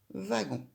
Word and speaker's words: wagon: Ensemble, le W et le A font va, la première syllabe de wagon.